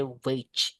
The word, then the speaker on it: wage: W G-nya dibaca J, Guys. So, it sounds like you say wage gitu.